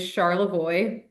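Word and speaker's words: Charlevoix: So, you're going to travel to Charlavoy, Michigan, which is probably is not pronounced the way you thought it was, but here in Michigan, we like to say things really weirdly, so it's it is Charlavoy.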